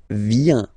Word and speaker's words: vient: Il, elle, vient. Final T not pronounced.